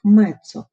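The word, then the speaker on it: mezzo: Буковка М означає не дуже або помірно і вимовляється як мецу.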